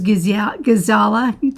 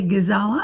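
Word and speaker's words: Giesala: Gizala, G-I-E-S-A-L-A, Gizala, I believe is how I pronounce it.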